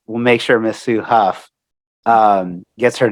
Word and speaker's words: Hough: your last name correctly is that it is pronounced Huff thank you for asking not very very few